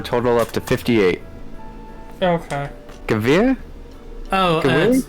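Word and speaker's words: Gewehr: Gavir? Oh, it's I used to pronounce it Gewer, but it's Gavir.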